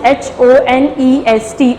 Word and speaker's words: honest: रहा है, like honest, H-O-N-E-S-T, honest, start with the consonant but it gives the sound of vowel. Honest, H is silent, we use N also there.